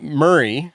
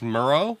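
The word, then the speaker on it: Murrah: what you say so it's not Murray it's Murrow Mur M Mah so I got about 15 comments saying I kept saying it wrong how do you even how do they show that you pronounce it's like M yeah so it's Mah so just okay we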